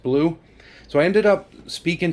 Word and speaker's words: BLU3: nemo and the nomad it's blu-3 but it's pronounced blue so i ended up